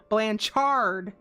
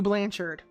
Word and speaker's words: Blanchard: the same point when they changed the pronunciation of their last name from Blanchard to Blanchard Blanchard not BL so is their last name was technically Blanchard like um like we're cooking a burger on a charcoal grill chard yes I know